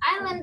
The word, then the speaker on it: island: Island is surrounded by water. But what is important is that S we don't pronounce, we say island, island, okay?